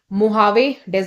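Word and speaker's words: Mojave: of death valley ये महावेद में located ठीक है यहां पे जे को एच प्रोनाउंस किया जाता है महावेद है ये विद इन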